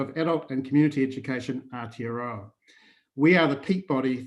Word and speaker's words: Aotearoa: And now, correct me if I'm wrong in pronouncing this, Colin. It's Aotearoa? Aotearoa.